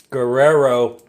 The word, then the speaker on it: Guerrero: Guerrero, if you don't want to roll your R's, Guerrero tostada shells.